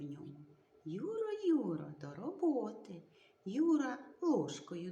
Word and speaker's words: ю: два звуки й у буква ю на початку слова і складу позначає два звуки Що ж вона нам